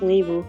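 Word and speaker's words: Nghi: this was written by ni Vu I think it's pronounced Neu but I'm not quite sure anyway so this is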